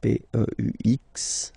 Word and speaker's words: peux: Okay, P-E-U-X. Okay, you don't pronounce the final X. Tu peux.